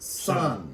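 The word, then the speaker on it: Sunn O))): It's called Sun. It looks like O, Oh, yes, but you actually just pronounce it Sun.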